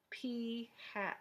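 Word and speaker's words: p̂: hat, which when we talk about it, we pronounce p hat.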